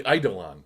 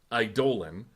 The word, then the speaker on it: Eidolon: I definitely had a hard E at the beginning of that. Sorry, it's Eidolon. I've been saying Eidolon for like a decade,